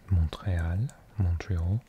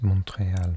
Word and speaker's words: Montréal: I was Montreal, but Montreal. Silent T in French for the mountain.